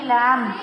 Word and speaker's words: lamb: LAMB, lamb. B. Right.